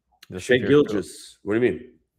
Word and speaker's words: Shai Gilgeous-Alexander: How do you How do you pronounce SGA's name? Shai Gilgeous-Alexander.